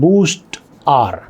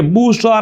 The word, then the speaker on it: Boostr: Application है जनाब बूस्ट आर जो कि मैं आपको बता रहा हूं स्पेलिंग में बी ओ ओ एस टी आर जिसको हम बूस्टर भी पढ़ सकते हैं।